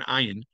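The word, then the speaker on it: עין: If you try to pronounce the letter Ayin, and actually Israelis are much better at pronouncing an Ayin, The ayin actually has to come from the throat, not from the mouth.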